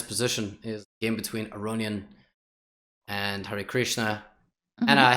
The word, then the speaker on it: Aronian: Wanted me to say Levon Aranyan, because you're not supposed to say the I. It's like you use the I and the A, Aranyan. Yes. Yeah, and the emphasis on the last syllable in Armenian surnames.